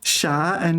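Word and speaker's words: 傻: the problem is that Sha Sha is second tone right um and if you're like me you're not that good at differentiating second tone and third tone unfortunately sh stupid okay so stupid unfortunately stupid is third time so if you mispronounce sha um and say sha you will get strange reactions um like so if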